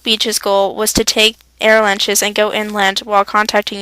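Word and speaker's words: Arromanches: Gold Beach's goal was to take air lunches and go inland while contacting U.S.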